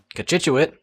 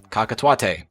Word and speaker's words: Cochituate: know what you're thinking kachitchut how did you know how to pronounce that did you have to google it and the answer is yes because i might have said something like cockatote and well who's laughing